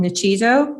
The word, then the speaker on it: Nuchido: Our company is called Nichido, which is spelled Nuchido.